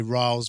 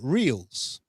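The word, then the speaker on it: Rielly: Because most of us say Riles because that's how he says you pronounce it. But TSN pronounces it Reels. So it's because it's got the EI thing going on there. It's kind of the difference between Seinfeld and Epstein.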